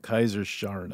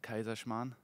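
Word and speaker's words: Kaiserschmarrn: Kaiser Scharn. I'm saying it wrong, I know. It's called Kaiser Schmarrn.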